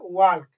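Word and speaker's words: walk: वाक। लेकिन ये एल हमारा साइलेंट है।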